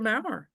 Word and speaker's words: Mowrer: So, uh, my name is Mau. Last name rhymes with flower.